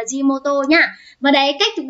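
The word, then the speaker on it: 地元: đúng không của jimoto từ này chúng mình đọc là jimoto nhá và đấy cách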